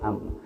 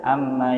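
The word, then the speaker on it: عمّ: Seolah-olah mim di tasdid itu mimnya dua, sebetulnya bukan, ya, mimnya satu. Jadi cara bacanya jangan seperti huruf-huruf tasdid yang lain, ada penekanan. Tidak ada penekanan di sini. Mengalir saja.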